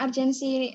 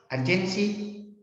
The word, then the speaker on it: urgensi: Tentang urgensi agama dan nasionalisme begitu, Pak. Apa? Tentang urgensi agama dan nasionalisme. Agensi?